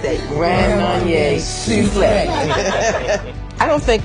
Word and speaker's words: Grand Marnier Soufflé: The Grand Marnier Soufflé. You have to say it like that. Grand Marnier Soufflé.